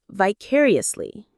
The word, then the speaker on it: vicariously: We learn in other words vicariously. This is another word that is so useful. Vicariously. Variously or vicariously. The stress lands on that second syllable.